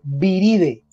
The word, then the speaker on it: viridae: Y normalmente para mencionar la familia se utiliza entonces el sufijo viride. Se escribe viridae, se lee viride, mire que la A no suena, viride.